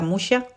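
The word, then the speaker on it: Muxía: Aquí se pronuncia Muxia, es con X.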